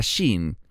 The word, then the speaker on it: Shin: Si está en el extremo derecho, es la letra Shin, cuyo sonido se pronuncia como el dígrafo del alfabeto latino SH, como en las palabras extranjeras flash o show.